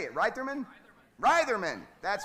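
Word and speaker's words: Reitherman: right it's how do you say it rman Ryman that's right that's correct Wolf Gang Ryman Wolf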